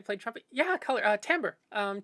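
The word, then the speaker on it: timbre: term when I played trumpet yeah color uh tamber um t m b r e um looks like Timber uh pronounced tber um the I suppose on other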